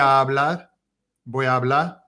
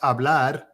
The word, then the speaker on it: hablar: they'll say voy a hablar, because with our word, if we pronounced hablar in English, we would say hablar, because we do any R word at the end.